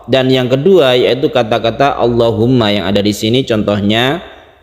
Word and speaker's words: allahumma: mufakhamah itu istilah lain yang jelas cara membacanya yaitu ditebalkan seperti lafaz Allah menebarkannya seperti itu bukan Allah contohnya yang ini kita kalau membaca doa allahumma seperti itu bukan Allahumma kalau sebelumnya itu kasrah